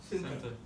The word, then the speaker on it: center: Not all, but most like to drop that T out of there and it becomes silent.